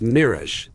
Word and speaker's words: mirage: Mir AG in marriage am IR G is pronounced Mirage said valancia shortly picking up her tea and